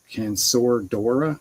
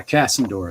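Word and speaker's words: Casandora: Used a wash of, how do you pronounce this? Cansordora yellow? Cansandora? And it's this stuff. Cassandora, I think maybe. Yeah, Cassandora, that's it.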